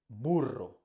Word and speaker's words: burro: Spanish like burro burro this sounds is particularly difficult for people that speak English because you don't have this sound in English it's the sounds you have to try to put your tongue roll the tongue back in your mouth foreign which means